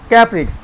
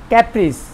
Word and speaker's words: caprice: ক্যাপ্রিক্স actually উচ্চারণ হবে ক্যাপ্রিস, ওটা নাউন ফর্ম, খেয়াল খুশি।